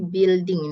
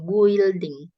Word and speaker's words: building: Ya, jadi building ini bacanya bukan building, building. Building.